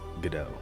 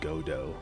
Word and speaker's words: Godot: where is it I when people say goo goo it's gdo not godo I when people don't pronounce it correctly they say God do I've heard God